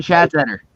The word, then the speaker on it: Schatzeder: Schattenzer, how do you pronounce his name? Dan Schatzeder. Dan Phillies. Schatzeder.